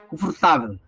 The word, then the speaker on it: confortável: passa a ser neutra um português quando fala confortável ele fala confortável tem uma sílaba uma vogal que aparece aí que é o a As outras todas não são vogais des confortável como o inglês falando